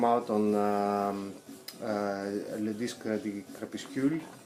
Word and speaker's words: Crépuscule: This is the box set that came out on Le Disque de Crépuscule. Crépuscule, yeah, that's the correct pronunciation.